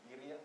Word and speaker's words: birria: How do you properly say it? Birria. Thank you. I wish I could do that. I don't have that ability to roll the R's like that, but it sounds wonderful when you say it.